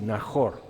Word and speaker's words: Najor: Y tengo un amigo que su apellido es Najor con J porque es más bien pronunciado así, Najor.